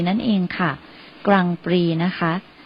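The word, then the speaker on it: Grand Prix: มา จาก คำ ว่า กรังปรี นั่น เอง ค่ะ กรังปรี นะ คะ สะกด เรา จะ สะกด แบบ ภาษา อังกฤษ นะ คะ แต่ เวลา ออก เสียง เรา จะ ออก เป็น กรังปรี สะกด ด้วย ตัว g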